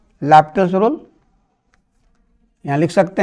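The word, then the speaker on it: L'Hôpital: कर दिया according to लैप्टल्स rule. यहाँ लिख सकते हैं, समझने के लिए मैं लिख देता हूँ, बाई हॉस्पिटल नहीं पढ़ा जाता है, ये साइलेंट है, इसको पढ़ते हैं लैपिटल।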